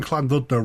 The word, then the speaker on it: Llandudno: I'll be doing my best and at least pronouncing Clan dudo right this time it's a fascinating Victorian Wonderland